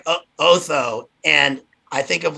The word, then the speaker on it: Otho: about his name is he's the name is pronounced otho which i can't help but think of oto